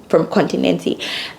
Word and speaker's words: Continente: So typically we actually buy from Continente or Continent. I would say Continent, but that's not the Portuguese pronunciation.